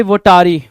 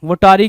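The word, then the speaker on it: votary: या फिर कुछ लोग इसको वोटारी पढ़ेंगे, कुछ वोटेरी पढ़ेंगे, तो it depends up टू यू कि क्या प्रोनाउंसिएशन निकाल के ला रहे हो। वोटेरी भी ठीक है, वोटारी भी ठीक है।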